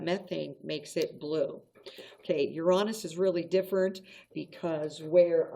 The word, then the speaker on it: Uranus: um goal to get they sometimes pronounce it uranus but i think uranus is better almost like you're saying you're honest it's the seventh planet